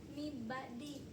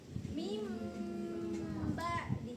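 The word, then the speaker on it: مِنْ بَعْدِ: Jadi bukan mibadi atau min ba'di, tapi mim ba'di.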